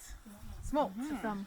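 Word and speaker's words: smolt: but that's a species it rhymes with like bolts like a lightning bolt smoke so smoke is when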